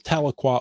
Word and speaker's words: Tahlequah: This comes from Tahlequah. I know that because we have a Tahlequah here in Washington State as well, so it helped me with the pronunciation. But this is Tahlequah, Oklahoma.